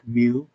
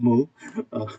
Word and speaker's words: mu: out with the roman alphabets as mu u pronounced like mu not moo at I do um it's a mass of